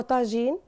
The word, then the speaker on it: طاجين: ما اروح المقادير هو بتقولي الطاجين ليه مش طاجن يعني لا هو طاجين ككلمه امازيغيه في الاصل يعني هي مش مش كلمه عربيه وتنطق بطاجين في المغرب جميع اه هي ليها